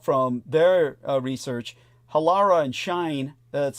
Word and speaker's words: Shein: And from what I can find out from their research, Halara and Shine, that's spelled SHEIN, are pausing some campaigns as they assess what the tariffs will mean for their businesses.